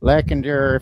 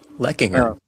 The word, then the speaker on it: Leckinger: And yeah, that's exactly how he pronounced my last name incorrectly. Yeah. Lackender, if you don't settle down, I'm gonna kick your ass. Yeah. So. And what is the proper pronunciation? We'll have to have him on the show. Leckinger. Oh, okay. Leckinger, yes.